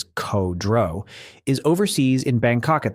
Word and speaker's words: Kudrow: Their boss, Lieutenant Colonel Nick Kudrow, spelled out phonetically as Ko-Dro, is overseas in Bangkok at the time, briefing senior officials on a security plan.